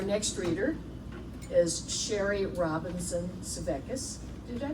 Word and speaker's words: Svekis: Our next reader is Sherry Robinson Sevecus. Did I pronounce that correctly?